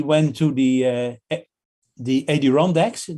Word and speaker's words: Adirondacks: to the uh the adirondacks that's that's how you pronounce it sure the mountain sure